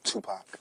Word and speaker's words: Tupac: Tupac. Tupac. Remember, like two, and Pac like pocket. You won't go wrong.